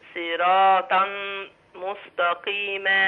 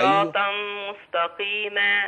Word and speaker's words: صراطا مستقيما: صراطا صراطا صراطا مستقيما صراطا مستقيما معلش الامر محتاج تدريب فخلي بالك من الصاد وخلي بالك من الطاء اي صراط مستقيما جميل بس بدون سرعه